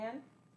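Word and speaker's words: Anh: Is that how you say it? Is it A-N-H? Yeah. Yeah, Anne? Or on?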